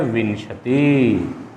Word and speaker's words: विंशति: कुछ बच्चे इसको विशंति कहते हैं, इसका जो उच्चारण करते हैं वो गलत करते हैं, विशंति बोलते हैं। विशंति नहीं है, ये विंशति है। वी के बाद ये अनुस्वार बोला जाएगा, विंशति बोला जाएगा, तो वो एकविंशति हो जाएगा।